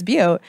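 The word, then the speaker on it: Butte: tough to pronounce because people call it butt and it's beaut but no I don't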